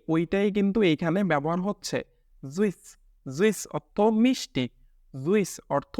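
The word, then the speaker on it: süß: এই যে আপনাদের এখানে যে উ উমলাউটের উচ্চারণ দেখাইছিলাম উই, ঠিক সেই ওইটাই কিন্তু এইখানে ব্যবহার হচ্ছে। জুইস, জুইস অর্থ মিষ্টি, জুইস অর্থ মিষ্টি।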